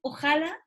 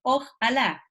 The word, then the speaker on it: ojalá: Lo castellanizamos como un ojalá, con tilde en la A.